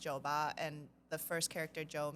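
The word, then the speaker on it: 酒吧: not so if you're saying a bar it's pronounced Joba and the first character Joe means liquor um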